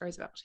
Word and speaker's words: Roosevelt: Is it pronounced Roosevelt?